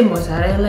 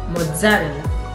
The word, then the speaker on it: mozzarella: If I say mozzarella, is the same? No. You have to put double Z.